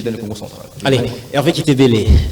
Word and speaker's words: Hervé Kitebele: Allez, Hervé Kitebele, je prononce bien votre nom, j'espère? Oui. Hervé Kitebele.